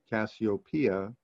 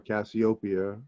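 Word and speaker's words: Cassiopeia: shape that's the queen that's copia or cassop or Copa I've heard it pronounced all three ways um that's the queen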